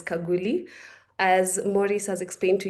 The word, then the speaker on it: Khaguli: It's pronounced as Kaguli.